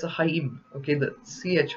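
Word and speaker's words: חיים: called sorry it's a Haim okay the CH whenever you see CH in Hebrew the C is silent in Hebrew from the root word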